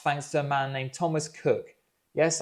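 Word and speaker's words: Thomas Coke: But this problem was solved well in advance thanks to a man named Thomas Cook. Yes, I know it's spelled Coke, but apparently it's pronounced Cook.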